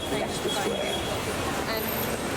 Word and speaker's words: Leicester Square: So it looks like Mary LeBone, but it's pronounced Marylebone. Same as Leicester Square, Leicester Square, no, Leicester Square.